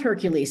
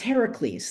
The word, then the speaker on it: Heracles: And there so the name is not Hercules, it's Heracles. That's how they said it. That's how they say it. There are no C's in Greek. If you see a C, it's pronounced as a K.